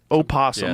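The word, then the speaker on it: opossum: angry wait hold on am I saying the word posum wrong a possums no I say it opposum I think is the right way to say it it's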